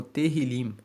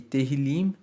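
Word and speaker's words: Tehilim: original no texto massorético ele é conhecido como terril se escreve t e h i l i m e teril significa louvores o livro de Salmos não foi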